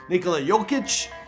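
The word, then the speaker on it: Nikola Jokić: favorites video this time on your boy nikolajovic nikola jokic nicola yo i said it right in the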